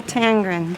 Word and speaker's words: Tangren: Tangren, Tangren. like Okay. two-tone, tan and green. Tangren. Only we dropped one E, so they pronounce it Tangren. So instead of you've known this Tangreen.